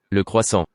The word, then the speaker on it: croissant: Le croissant. Are they saying croissant? Well, it's not really. It sounds like an R.